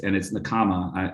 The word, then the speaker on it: Nakama: And now that I understand it's Nakama, I can say it correctly.